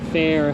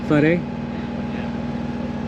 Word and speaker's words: Fare: I was happy at Fair. How you say? Fari? Is that how you guys say? Fare.